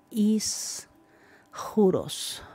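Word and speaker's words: ἰσχυρός: español lo tradujeron como fuerte en griego se pronuncia is juros y esto se puede traducir como poderoso o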